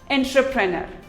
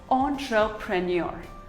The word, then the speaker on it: entrepreneur: engineer here's another word most of us pronounce it as entrepreneur while it is actually pronounced as entrepreneur ontra premier entrepreneur debris it is not